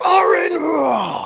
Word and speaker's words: Aron Ra: saying ARON RA's name, like ARON RA, because that is the proper way to say that name.